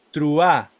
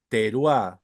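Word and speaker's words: תרועה: Hay judíos, marca judíos, que ellos dicen truá, dicen. Yom truá. ¿Sí? ¿Por qué? Porque es un Shva y es un Shva súper corto, entonces a veces algunos no la pronuncian y es un dialecto, es válido, está aprobado, pero según la regla gramatical tiene que decir teruá, ¿sí?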